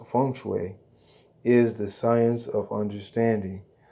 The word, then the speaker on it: feng shui: The Chinese system of geomancy, feng shui, pronounced feng shui, is the science of understanding the dragon currents, which exist beneath the earth.